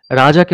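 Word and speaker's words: reg: যেমন লাতিনে রেজ, আর-ই-জি রেজ মানে হচ্ছে এটা উচ্চারণ হয় রেজ।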